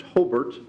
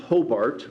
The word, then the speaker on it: Hobart: seconded by an and it is correctly pronounced Hobart as a Lake County native it is not Hobart as many people from Fort Wayne might say Hobart Indiana the Hobart brickies